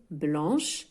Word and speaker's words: blanc: Le C ne se ne prononce pas ici à la fin, on ne prononce pas le C.